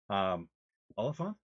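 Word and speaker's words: Olyphant: Oliphant?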